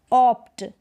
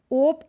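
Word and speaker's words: opt: जैसे ये है ऑप्ट, ओप्ट नहीं है, ये ऑप्ट है।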